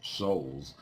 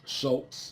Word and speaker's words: Schulz: But long story short, that T does not exist in his last name. It's Charles Schulz. Might still be pronounced Schultz, just, due to how words and stuff are pronounced.